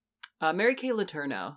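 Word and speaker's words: Letourneau: to um the Mary Kay how do you pronounce the US name uh Mary Kay lerno L yeah Mary Kay LNO or L if you want to be super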